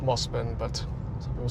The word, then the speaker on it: Mosman: And it's pronounced Mosman, but some people say Mosman.